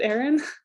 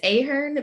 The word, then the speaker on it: Aheron: say your last name is it aaron um it's ahern but it's spelled iron it really simply so no worries at